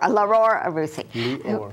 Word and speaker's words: Lior Arussy: I said the first name wrong. Lior Arussy. Okay. Right. I forgot the Dior. Lior Arussy.